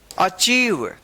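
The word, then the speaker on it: achieve: अब यहां पे देखिए इ आई आया है तो चाहे आई ई रहे या इ आई रहे इन दोनों का उच्चारण इ होगा डिसीव क्या पढ़ेंगे इसको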